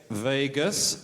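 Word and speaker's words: vagus: in all mammals they Branch off the uh vadas nerve that how it's pronounced Vegas ner oh that's good to know because we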